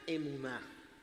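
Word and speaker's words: אמונה: La palabra fe o que se escribe así se pronuncia emuná y se traduce como fe, como fidelidad, como firmeza, como constancia.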